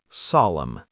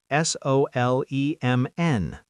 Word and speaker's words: solemn: Solemn. S O L E M N. Solemn. Very serious. See the pattern? MN at the end. N is silent.